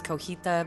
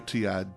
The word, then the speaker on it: cotija: Cotija cheese? Cotija cheese. I think I said it the wrong Yeah. way. I thought it was cojita, but I was corrected. I think it's cotija. Cotija.